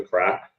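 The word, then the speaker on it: craic: page because I uh the Irish have a saying for the crack and it's like c r a i c is how it's spelled and it means like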